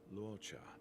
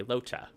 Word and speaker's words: Luocha: The name's Luocha. Luocha. I'm a traveling merchant, merely passing through. The name's Luocha. Locha. Locha? Locha. That's how he pronounced it. Okay, Locha.